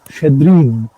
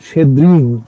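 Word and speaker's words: Щедрин: আসলে মিখাইল সালতিকভ, তার অ্যাকচুয়াল উচ্চারণটা হচ্ছে, তাকে যে নামে সবাই চেনে সেটা হচ্ছে মিখাইল সলতাইকভ শেদ্রিন। শেদ্রিন, শেদ্রিন কথাটা বলতে হবে।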